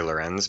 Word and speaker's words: LRNZ: Uh, he goes by the name LRNZ, which we're never sure if that's supposed to be pronounced Lorenz. We just say Lorenz, but his name Okay.